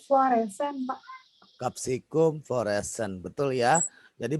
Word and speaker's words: Capsicum: Capsicum fluorescens. Betul ya. Jadi bacanya bukan capsicum. Salah. Ya, capsicum. Jadi bacanya kalau bahasa Latin ya. Ini A ya. Ca, ci, cu, ce, co. Berarti bacanya ka, siku, seko.